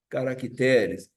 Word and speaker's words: caracteres: Alguns substantivos terminados em R mudam a sílaba tônica no plural. Junior faz juniores. Campeonato de futebol junior faz o plural juniores. Caráter faz o plural caracteres.